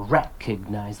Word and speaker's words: recognize: um it's recognized okay put that stress at the very beginning recognize like you know that's I